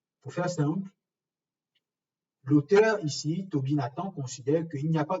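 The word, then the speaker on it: Tobie Nathan: Et dans le sens inverse, Toby Nathan, qui est un professeur émérite de psychologie, donc Toby Nathan comme ça se prononce, donc Toby Nathan a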